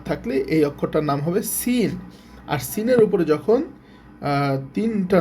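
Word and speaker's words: سين: দাত তিনটা দাঁত থাকলে এই অক্ষরটার নাম হবে সিন আর সিনের উপরে যখন তিনটা নুক্তা থাকবে তখন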